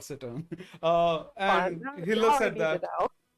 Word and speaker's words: cittern: Yes, I am carrying, I think it's pronounced cittern.